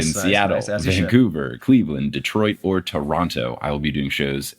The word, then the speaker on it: Toronto: Just be careful with that second tea. I' I've heard the Toronto people, they they say it more like Toronto. That second T. It's a real soft T.